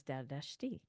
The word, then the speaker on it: Dardashti: Um, yeah, more and more I've realized that the correct pronunciation was Dardashti.